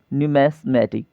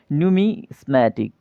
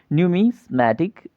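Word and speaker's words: numismatic: क्या बोलते हैं दोस्तों न्यूमेटिक ठीक है क्या बोलते हैं नूमिसमेटिक ठीक है थोड़ा सा उच्चारण इसका त्रुटिपूर्ण है आप याद रखेंगे क्या है नूमिसमेटिक ठीक है इसमें सिक्को का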